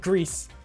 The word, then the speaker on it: gris: in the noname yeah the noname grease g r i s they pronounce it Greece that is that is straight up how they do so so that's kind